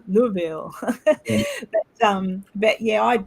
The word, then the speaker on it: Louisville: Barrel they goes no he said that's not how you say it and I said it's not he go no ma'am and he kept getting me still don't know to this day if I say it correctly but it was I I I mimic him because it was like Lille Lille so not Louis or Louis it was Lou Louisville but um but yeah